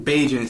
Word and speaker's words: Bagent: Tyson Bagent. Secret Agent Bagent.